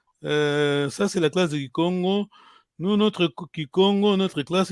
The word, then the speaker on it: Kikongo: Attends, je suis en train de Kikongo, voilà, faut vraiment prononcer Kikongo.